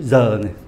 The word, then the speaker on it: heure: Trong từ "heure", chữ "h" không được phát âm. Chữ "h" này câm và không được phát âm. Chữ "e" ở cuối cũng không được phát âm. Vậy thì còn lại gì? "eu " là cách phát âm môi tròn, cộng thêm âm "r" và "e" . Không phải "k", mà là "he".